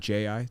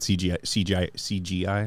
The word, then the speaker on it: CJI: CJI. Did I say that? You said it right, yeah. Yeah. Not CGI. I kept saying CGI last Yeah, time.